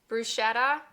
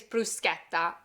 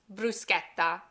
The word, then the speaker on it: bruschetta: The real way to pronounce it is bruschetta, bruschetta. And that hard K sound that we hear comes from the Italian C-H-E. When you have a C-H and an E together, it makes the K sound, bruschetta.